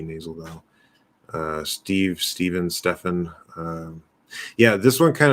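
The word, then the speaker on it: Stephen: a v and then the ph would be stefan with an f sound stefan now i've seen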